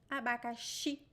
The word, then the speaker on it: abacaxi: And I talk about the 4 pronunciations of the letter X. And this word, it sounds like SH. Abacaxi.